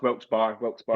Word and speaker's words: Wilkes-Barre: The thing that what made me remember when you said was the Wilkes Bar, and we were all like, "Oh, it's Wilkes Bar."